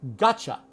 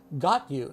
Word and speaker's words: gotcha: Now so you must reduce it. You can't say got. Got you. No.